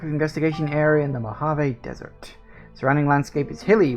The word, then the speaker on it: Mojave: Actually, I think I called it the Mojive because I thought that was funnier when I was uh first playing this. But no, apparently it is pronounced Mojave.